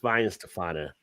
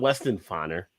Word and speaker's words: Weihenstephaner: It's Weihenstephaner, not Weston Fanner or Weston Fainer.